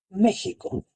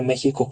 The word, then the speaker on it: México: Más allá de ser una moda, tenía una función, respetaba eh fonéticamente la pronunciación de los grupos indígenas en México y ayudaba a los españoles a pronunciarla como una J.